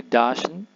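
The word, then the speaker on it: dāšn: Kemudian ada DSN, ini Dashen, artinya hadiah. Dashen.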